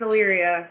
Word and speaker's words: Illyria: It's Illyria.